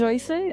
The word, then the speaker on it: Joyce: Oye, primero, porque también mi nombre es Joyce, así se es la pronunciación correcta.